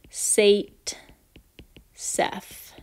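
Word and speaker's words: Zaitsev: is also called the sait SEF product that's pronounced sait SEF and the st.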